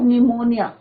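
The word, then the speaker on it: pneumonia: That yes सर ऑफ निमोनिया। अब यहाँ बच्चों ध्यान रखना कि पी जो है बच्चों साइलेंट रहता है जब हम इसको बोलते हैं निमोनिया, पी इज साइलेंट।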